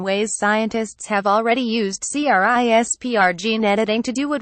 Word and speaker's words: CRISPR: now this experimental technique known as CRI SPR pronounced CRISPR for short utilizes snippets of bacteria